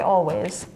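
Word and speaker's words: Alvvays: It is spelled with 2 V's, not a W, but it does indeed say Always.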